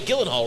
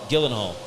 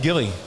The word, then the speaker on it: Gyllenhaal: Oh, wait, that was Jake Gyllenhaal, right? There we go. Yeah, it was. Yeah, it yeah. was Gyllenhaal. Gyllenhaal. Yeah. It Gyllenhaal. was for sure. Gyllenhaal. But that's what I said. Gilly.